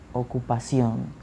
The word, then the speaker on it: ocupación: Okay, so profession, profesión, occupation, ocupación, ocupación, profesión, profesión.